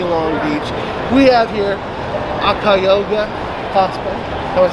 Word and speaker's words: Akakioga: We have here Akakioga Cosplay. Am I saying that right? It's Akakioga. You were close. I was close. It's very hard to pronounce if you're like just kind of looking at it.